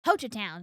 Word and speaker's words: Hochatown: Hochatown is how I pronounce it.